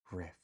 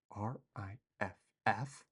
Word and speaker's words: riff: There's no T in Rift. What? Rift. R I FF? That's rift. I think the word rift does have a different definition. Oh my goodness. Holy smokes. Am I saying it wrong this whole time? Riff.